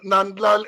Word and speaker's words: Nandlall: l e l l so you should always say n e and d a l a l l so let me correct